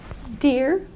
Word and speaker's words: dear: English the EE R for example we just pronounced the same as DEA our dear dear but you have to actually contract your